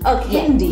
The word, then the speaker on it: Elkindiy: Is that how it's pronounced? Elkindiy. Elkindiy.